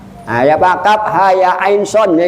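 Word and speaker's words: كهيعص: Hamim bacanya hama. Nah, ya Pak, kaf ha ya ain son kah aso.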